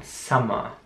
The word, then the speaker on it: summer: Das U wird wie ein A ausgesprochen. Summer.